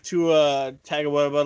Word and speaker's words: Tua Tagovailoa: You're speaking of Tua Tagovailoa, blah blah blah. Yeah, exactly how it's pronounced.